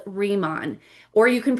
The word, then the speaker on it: Riman: This company is called Remon, or you can pronounce it however you want, but I say Remon.